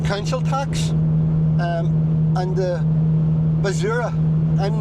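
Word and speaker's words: basura: So, for a little bit more detail, there's the IBI, your council tax, um, and the Bazura. I'm not great at pronouncing Spanish.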